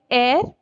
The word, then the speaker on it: heir: Next, heir, heiress we say. H is silent here.